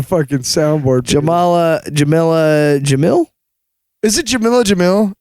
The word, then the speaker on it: Jamil: Is it Jamil, right? Yeah. I could be pronouncing that wrong. No, you're right. I forgot her names are very similar. Yeah, right. Jamil, yeah.